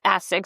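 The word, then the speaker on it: ASICS: I just remember he taught me that it's not AS6, it's Asex.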